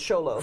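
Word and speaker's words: Xolo: even though it starts with the next it's pronounced sholo so um anyway um so yes there is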